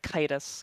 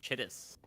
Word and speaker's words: Chittis: not call this guy Chitus, because that's what it looks like it says. It's Chittis. Yeah, Chitus. It's like the dumbest way you could pronounce that. It's like chitin, like the insect shit.